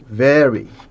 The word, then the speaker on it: vary: Human anatomy and physiology vary. 뭐 thank you very much 할 때 그 very하고 발음이 같죠. Vary in small but significant.